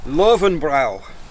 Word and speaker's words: Löwenbräu: It's called Löwenbräu. It's German.